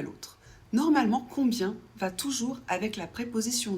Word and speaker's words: combien: On prononce le B. et i e n ça fait y ça fait combien ?